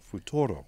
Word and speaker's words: futuro: Futuro. Futuro. Futuro. Like if you're kissing somebody, futuro.